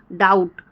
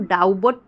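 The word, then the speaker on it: doubt: हम डेप्ट नहीं पढ़ेंगे डाउट डाउट को हम डाउ बट नहीं पढ़ेंगे ठीक है सटल सटल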